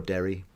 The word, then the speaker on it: Darry: And I pronounce that Darry. Yeah. You're more Derry. Oh, okay. Just Darry. Just a little bit to me, but... It's my Western Pennsylvania accent.